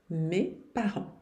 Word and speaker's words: mes parents: Mes parents. O T e o S aqui não se pronunciam. E o S na frente de uma outra consoante não se pronuncia também não. Mes parents.